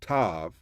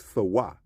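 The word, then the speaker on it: תאוה: They'll pronounce it as a V, but that's a W.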